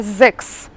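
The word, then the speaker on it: sechs: Вот эти три буковки мы будем всегда произносить как «кс». Давайте потренируем. Например, цифра 6, вы знаете, как она звучит, это «зекс». «Зекс». «Кс». Услышали «кс».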